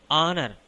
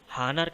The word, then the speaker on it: honour: ఆనర్. అదేంటి హానర్ కదా అనుకుంటున్నారా? ఆ హానర్ కాదండి బాబు, ఆనర్. ఎందుకంటే హెచ్ సైలెంట్ అండి.